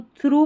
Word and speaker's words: through: Blue थ्रू, THROUGH को थ्रू पढ़ते हैं, यहाँ पर GH साइलेंट है।